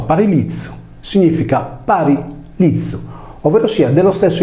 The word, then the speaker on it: Parilicium: mi è chiaro che il Par Lion pronunciato paril liiz significa parizu ovverosia dello